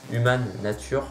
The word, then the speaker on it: Human Nature: nature qui reste nature human nature je prononce à la française qui reste pour moi